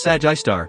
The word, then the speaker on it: Sgr A*: While Sagittarius A, or SGRA, pronounced Sag-I-Star, is only 25,800 light-years